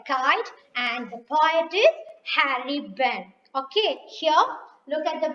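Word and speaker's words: Harry Behn: kite here the kite and the poet is harry bent okay here look at the ball the kite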